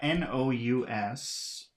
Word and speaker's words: nous: We've got N-O-U-S. So I guess that would be pronounced nu.